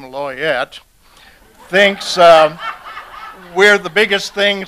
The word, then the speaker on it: Loyette: And we were a smash hit at the Denny's there, where a waitress named Loyette, who pronounced her name Loyette, thinks we're the biggest thing since the death of Elvis.